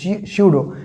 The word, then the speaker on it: pseudo: स्यूडो force में P silent होता है, ठीक ना, PSEUDO, स्यूडो।